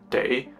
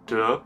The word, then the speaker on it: 得: This character here has got three different pronunciations and thereby three different meanings. The first one is day, which colloquially means something like must or have to. Okay, then it can also be pronounced as de in the word de dao, which means to get or to obtain.